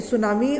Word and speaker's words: tsunami: आप ध्यान से देखिएगा, ये TSUNAMI लिखा है, T साइलेंट है, ठीक है। तो सुनामी उसने न्यूज़पेपर में देखा।